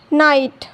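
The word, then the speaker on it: knight: जब के बाद एन आता है तो के साइलेंट होता है और साउंड केवल एन का मिलता है। जैसे यहाँ देखिए के बाद एन आया है तो के साइलेंट होगा, साउंड केवल एन का मिलेगा।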